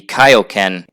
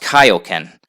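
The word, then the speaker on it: Kaiō-ken: King Kai ends up teaching him the Kaioken and the Spirit Bomb. For those who might be confused, it is actually pronounced Kaioken. In the dub, they said Kaioken, but they pronounced it wrong.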